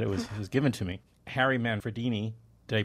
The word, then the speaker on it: Harry Manfredini: Harry Manfredini, did I pronounce that right? Yeah, Harry Manfredini, and others, et al.